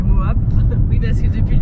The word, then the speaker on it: Moab: Ouais, on est parti de Moab, qui se prononce pas Mob mais Moab.